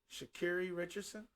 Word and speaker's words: Sha'Carri Richardson: I think she prefers it to be pronounced Sha'Carri Richardson.